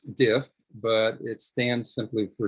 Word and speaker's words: DIF: little tidbit here diff it's pronounced diff but it stands simply